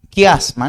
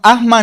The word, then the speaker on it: quiasma: Quiasma, no, asma no, quiasma.